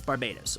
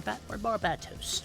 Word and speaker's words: Barbatos: That's Barbados, or Barbatos, depending on how you pronounce things.